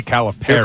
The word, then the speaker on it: Calipari: I was listening intently this weekend to the way they pronounced it on the broadcast. Yeah, they say Caliperry.